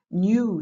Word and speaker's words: knew: Knew, c'est le passé de to know, c'est savoir. Tu te souviens qu'on ne prononce pas le K.